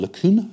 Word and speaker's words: LeCun: Jan once told me how you pronounce his name, and it isn't LeCun, it's LeCun, I think.